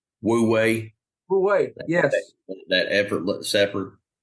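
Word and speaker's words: wu wei: in our life how how they say it the master observes World Way yes woo way way yes that effortless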